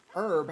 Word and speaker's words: herb: os like no why why does herb have a silent h in american dialect makes no sense like